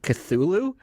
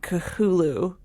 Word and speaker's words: Cthulhu: Or is it Cthulhu? The characters in this kind of big Cthulhu mythos, we can't pronounce them correctly. Like, I say Cthulhu, and anybody who's going to write in and correct me is wrong, because Lovecraft is pretty clear you can't pronounce those names because we don't have tentacles and 30 tongues, and there's like Cthulhu, there's Cthulhu.